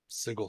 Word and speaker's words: Sigil: d put out uh it was pronounced sigle but you of course can pronounce it sigil if you wish uh when I used